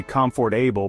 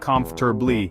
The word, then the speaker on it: comfortable: the ultimate tongue twister we look at it and we want to say comfortable but that just sounds so wrong native speakers usually end up saying something like comforter it's like the middle part of the word is on fast forward and then there's February